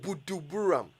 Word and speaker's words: Buduburam: It's Budu, not Buju. D-U, not J-U. Buduburam.